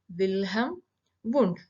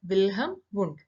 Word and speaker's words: Wilhelm Wundt: behavior and mental process father of psychology is wilhelm wundt here the second l is silent it is pronounced as wilhem bund and the d is silent so bilham wound so he is considered as the father of